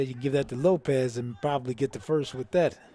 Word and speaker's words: Lopes: had today you know he spells his name l-o-p-e-s and he he's very adamant about having his name pronounced correctly and he'll remind you that it's not lopes it's lopez yes he does yes